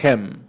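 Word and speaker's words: חן: Es lo mismo que la palabra Hem, que aunque se escribe Chem o Kem, se pronuncia Hem, esto habla de la misericordia.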